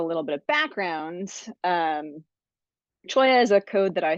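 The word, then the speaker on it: Cholla: So, Michael asked me if I'd be willing to talk a little bit about um my code um which is pronounced choya.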